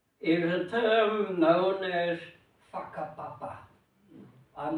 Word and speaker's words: whakapapa: the Maori term is a term known as whakapapa. I'm not swearing at anybody. That's how they pronounce it.